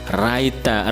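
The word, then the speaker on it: ライター: Dibacanya A-nya panjang, ya, karena di belakangnya saya sudah kasih ciri ini panjang, ya, minus. Jadi ada huruf minus ini dibaca panjang. Raita.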